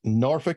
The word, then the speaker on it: Norfolk: And that's Norfolk, Virginia, which is on the south side. Good pronunciation, by the way.